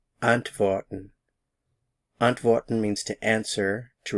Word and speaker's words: antworten: new verb the verb ant vorton ant vorton notice the pronunciation of the W ant vorton Antwon means to answer to reply or to respond the stress is at the beginning of the word ant Von ant Von